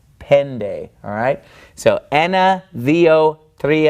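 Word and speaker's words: πέντε: followed by the knee it is pronounced more like an English D so instead it's not Penta it's pen day alright so enna vo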